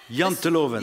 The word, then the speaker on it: Janteloven: So I want to make sure I pronounce this correctly, but I think it's called Janteloven. Janteloven.